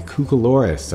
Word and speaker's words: cucoloris: light and your models, or a cucoloris, I believe is the correct way to say it, or a cookie cutter.